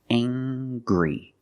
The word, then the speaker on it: angry: say he's very angry we use the nasal sound plus the hard G angry he's very angry he